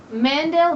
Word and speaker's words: Mandel: is Emily St John Mandel Mandel like Howie Mandel I don't know could